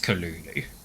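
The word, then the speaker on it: Cthulhu: write that yes it's it's written cthulu but I think it's pronounced Kulu yeah the the weird pronunciation I think is intentional because it's meant to be something that doesn't fit the human's tongue just I I looked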